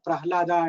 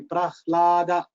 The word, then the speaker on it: Prahlada: So, when you have to come to, if you have to pronounce Pral, you have to come to the Danta and then go back to the Kantha for Ha. Whereas, if you pronounce Ha first, you can, that Ha can come from there only, Prahlada. So, quickly you can pronounce Prahlada if Ha is first pronounced.